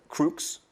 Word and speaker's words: Crux: Crooks? Ça se prononce comme ça? Crooks.